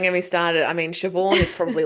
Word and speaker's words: Siobhan: I mean, Siobhan is probably like the limit of how much my brain can like remember.